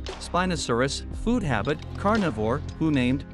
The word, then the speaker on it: Spinosaurus: Name meaning, spiny lizard, pronunciation, Spinosaurus, food habit, carnivore, who named, Ernst Stromer von Reichenbach.